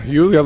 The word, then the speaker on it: Eula: Yeah, Eula, that's how we kind of pronounce it.